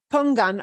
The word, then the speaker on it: pongan: on that same thing pongan always has to sound like pong gun it never wants to become gun no it always wants